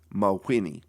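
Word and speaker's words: Mawhinney: His name is spelled M-A-W-H-I-N-N-E-Y, Mahwini.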